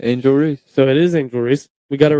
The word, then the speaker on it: Angel Reese: Angel Reese I believe is it angel or Angela I lit I've heard it both ways and